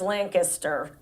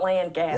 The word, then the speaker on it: Lancaster: I learned how to say it the right Yeah, way when I what was moved there. It's Lancaster. Lancaster, not Lancaster.